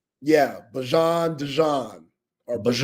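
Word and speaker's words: Bijan: People think it's Bejon. It is not Bejon. We've been calling him that ever since he touched down at Texas. It's Bjon Robinson." Bjon. Yeah. Bjon.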